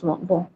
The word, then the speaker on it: vont: Sir, N won't be pronounced, like il, elle, vont.